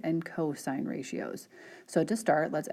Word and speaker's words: cos: of a and the cosine of a written as si N and cos we do not pronounce that as sin and cost when you see this you say sine of a cosine of a are defined as follows